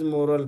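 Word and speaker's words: morale: काय सेंट्स सांग employ मोरल refer आता हे बघा हे मोरेल अस वाचायच रेफर दट सस्फॅक्शन कॉन्फिडन्स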